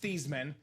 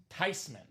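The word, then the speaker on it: Theismann: It's not pronounced theman. It's not pronounced Thyman. The proper pronunciation is Joe Tyman.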